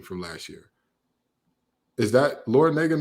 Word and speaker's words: Larrañaga: Is that Larrañaga not Miami's head coach? Like Jim Larrañaga? Oh, Larrañaga, the nerve of me for pronouncing the A incorrectly.